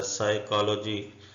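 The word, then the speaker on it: psychology: चीज याद रखें कि पीएस वाई से जितने भी वर्ड शुरू होते हैं वह सारे साई उसका पढ़ा जाता है साइकोलॉजी साइकेट्रिस्ट साइकोथेरेपी वगैरह ये सारे वर्ड साइको से शुरू होते हैं पी इसमें साइलेंट होते है रसबेरी फल का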